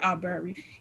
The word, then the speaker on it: Arbery: Um, I can't think of how to pronounce the other young man's name. My Aubrey. Yeah, Arbery.